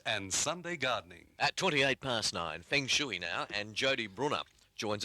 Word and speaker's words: feng shui: I asked Edward last night how to pronounce it, and he said Feng Shui. Yeah, there you go. So. He's been living in China, so Feng I suppose Shui. different people, different places pronounce it differently.